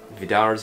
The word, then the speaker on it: Vidar: Vidar's might. Vidar. You have to kind of roll your R, but stop it early with your tongue as part of the accent. That's my tip.